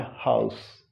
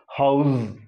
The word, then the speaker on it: house: But this word can be pronounced in two ways. Suppose you are using it as a noun, you have to say house, this is my house.